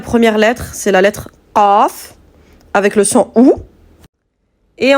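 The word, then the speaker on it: قاف: Vous voyez comment je la prononce? Qaf. Donc celle-ci, pour vous aider un petit peu pour la prononcer, le son va sortir en début de gorge, plus précisément au fond de la langue. La langue sera en contact avec le palais mou.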